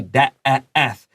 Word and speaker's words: death: So death has EA.But we don't say death. This is a short E, death. Please write down duan E, so remember, like elephant.